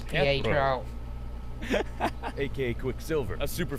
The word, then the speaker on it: Pietro: Yes, it's Pietro.